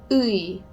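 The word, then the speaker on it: ㅟ: And it is a combination of oo and e. And basically, the way you're going to pronounce it is just a really fast version of those 2 vowels. So it's ooey, ooey, ooey.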